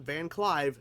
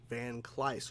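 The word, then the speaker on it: Van Kleiss: for quite a while van cly not van Clive van clyce showed up and for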